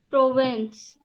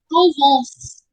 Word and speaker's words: Provence: E-N is on. A province. Provence. Provence. Okay.